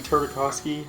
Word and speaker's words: Tartakovsky: Yeah, I mean, it's fucking Brendy Tartakovsky? How the fuck do you pronounce his name?